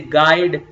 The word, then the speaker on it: guide: in the same way when ug come together you will not read you like we say guide guest god gasps gano